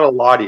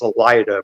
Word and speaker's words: Elida: It's not Eladia, it's Elida, but I always say it wrong.